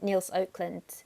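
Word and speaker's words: Nils Økland: yeah, I'm going to pronounce his name wrong, Niels Oakland.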